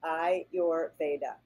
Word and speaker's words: Ayurveda: and let's let me teach you how to pronounce that so I you're very easy I your Veda now you can say it a lot of